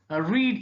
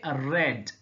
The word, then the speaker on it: read: See, the spelling is same in past form and past participle, but the pronunciation is different. So we do not say read in past form, we say read. So though the spelling is R-E-A-D, its pronunciation is different. So read in present or infinitive, read in past, and past participle also is pronounced as read.